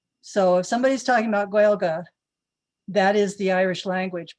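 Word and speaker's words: Gaeilge: of a english adaptation the irish word from the la for the language is galga you can look at that pronunciation and wonder why it's like that um rather than gaelic so if somebody's talking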